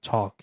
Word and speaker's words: talk: Parece que tem um um som de o no começo. Então fica talk.